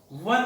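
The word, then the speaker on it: one: प्रिय विद्यार्थियों, इसका उच्चारण वह हो रहा है, वन बोल रहे हैं अपन, समझ रहे हो ना मेरे प्रिय बच्चों। इसका उच्चारण वह वकील का हो रहा है, इसलिए इसके ए लगा है।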